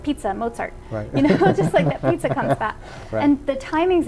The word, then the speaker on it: Mozart: and they're reading it most people say mozart wrong they do that right and they now know it's Mozart like pizza and Mozart you know and the